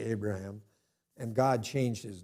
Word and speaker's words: Abraham: I'm convinced from talking to Jewish people that Abram and Abraham are the pronunciations they would use, but we always say Abraham.